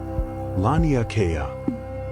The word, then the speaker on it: Laniakea: They called it Laniakea. Say that word quietly to yourself if you like. Laniakea.